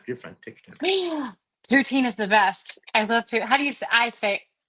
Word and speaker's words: poutine: Now I've heard it's pronounced poiten or poiten. Poitin? Oh, it sounds very Canadian. Poitin. Okay, I'm gonna start saying it like that, and people are gonna correct me and tell me it's poutine.